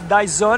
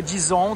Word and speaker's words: Dyson: É Dyson, né, ou Dyson, depende do idioma que você vai pronunciar, que são os secadores, né, secadores maravilhosos.